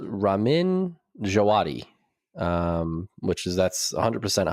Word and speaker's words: Ramin Djawadi: So it's Ramin Djawadi, which is that's 100% how you pronounce it.